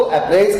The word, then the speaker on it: appraise: याद रहे, पहला जो वर्ड था, the pronunciation of first word is अप्रेज एंड the second word is अप्राइज।